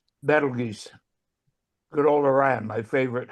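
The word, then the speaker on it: Betelgeuse: By the way, it's pronounced Battle Geese, not Beetlejuice.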